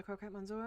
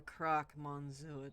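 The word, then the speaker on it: Croque Monsieur: let's start with introductions you rather croquette monsieur are you not that's the croc monsieur to you come on do people always get the pronunciation wrong oh that explains it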